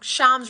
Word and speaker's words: Shams: assuming Shams reported this sham sham now I'm saying it wrong Shams reported this officer slippery fist says